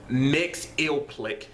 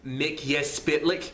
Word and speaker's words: Mxyzptlk: Like one of the first pronunciations I've seen it for his name when you Google it is Mxyzptlk. But if you go by like the 90s animated Superman cartoon, it's Mxyzptlk.